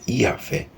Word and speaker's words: Yahvé: 31 O tagr Sagrado que na pronúncia original era yahvé é formado por quatro